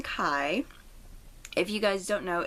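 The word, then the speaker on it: Kei: is a reference to Kai Tsukishima from Haikyuu. And I hope I said his name right. I know that they call him K in the anime, but it's spelled more like Kai, so that's what I named him.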